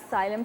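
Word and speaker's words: psyllium: सारे नाम है या साइलम सीड्स भी बोलते हैं जबरदस्त पी से स्टार्ट होता है पी साइलेंट है इसका ठीक है तो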